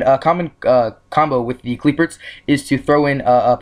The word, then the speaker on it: Qliphort: Qliphort. They put the R in there, so it's Qliphort Tool, right?